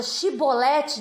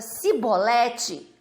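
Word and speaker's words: Shibboleth: aplicação longe che bolette se a palavra fosse pronunciada certa viveriam então vamos chamar a palavra chiie bolette de palavra de vida ea palavra se bolette de palavra de morte porque quando não se pronunciava o ch e por colocavam o s retornou para eles palavra de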